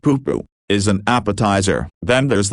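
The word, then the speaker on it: pūpū: Not a person's name, but in Hawaiian, a pupu, pronounced pupu, is an appetizer.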